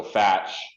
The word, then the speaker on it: Fach: how it's pronounced for my business H so fatch yeah pronounced Ball but it's pronounced and that's French